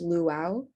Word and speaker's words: luau: originated from polynesian and hawaiian culture and it's pronounced luau the term luau stands for young tarot tops